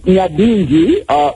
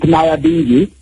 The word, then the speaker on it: Nyabinghi: It is pronounced Nyabinghi in this region, and you pronounce it Nyabinghi, which is, I suppose, an Americanized version, of it.